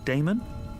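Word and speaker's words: Adaemon: How do you pronounce that? Damon, if you prefer.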